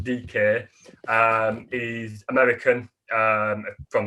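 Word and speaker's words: Dike: mls he's come from orlando city um you spell it it's called dk now you spell his last name d-i-k-e so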